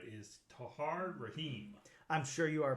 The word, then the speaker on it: Tahar Rahim: the movie, if I'm pronouncing this right, is Tahar Rahim. I'm sure you are pronouncing it right. That does sound correct, Tahar Rahim.